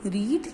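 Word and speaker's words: read: ठीक है, आई रेड English, इसको हम रेड पढ़ते हैं। ठीक है, तो ये जो रेड होता है इसकी सारी फॉर्म्स में हम यही लिखते हैं, बस प्रोनाउंसिएशन पे डिपेंड करता है कि हम उसको किस तरह से करेंगे। ठीक है, जैसे रीड, रेड, रेड, ये हो गई फर्स्ट फॉर्म, ये हो गई सेकंड फॉर्म, ये हो गई थर्ड फॉर्म।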